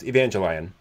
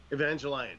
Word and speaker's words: Evangelion: to correct you there Steve I believe it's pronounced Evangelion Evangelion sorry yes Evangelion my bad my bad uh